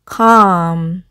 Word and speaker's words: calm: 첫 번째 단어는 해서 calm 이라고 발음하고요.